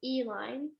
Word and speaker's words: Eline: Is it? Don't worry, you want to say it? Sure, it's Eline.